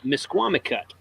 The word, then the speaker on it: Misquamicut: And, pronounce it for him. Misquamicut.